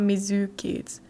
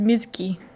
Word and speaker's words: Mizuki: they say her name it's not mizzou kids mizuki it's not a long you mizuki you're just miski like you're barely here the zoo really mizuki i'm gonna teach